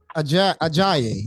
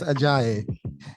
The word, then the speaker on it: Ajayi: We are now joined with Miss Abbey Ajayi. I think I pronounced that correct, did I? Yes, you did. Okay, Miss Ajayi.